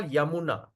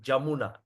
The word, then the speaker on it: Yamuna: We call Yamuna. They cannot say the word Y. They get Jamuna.